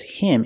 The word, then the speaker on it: him: turned him down pronunciation the H in him is silent because him is not a stressed word so you hear the D and turned link to the next sound turned him turned him she turned him down